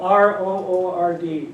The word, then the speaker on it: R.O.O.R.D: So we'll watch a video to get you, and yeah, I know, R-O-O-R-D, it's not a word. So how do you pronounce it? I don't know. You know, I call it ROORD.